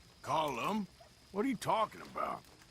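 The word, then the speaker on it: Colm: not killing me let me tell you old comb oh Driscoll he's a rotten fella not you as well it's not cold it we say column well uh he likes comb he's American boy's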